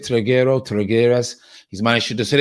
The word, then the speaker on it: Trigueros: And then Trigueros, I think his name, that's how you pronounce it, Trigueros.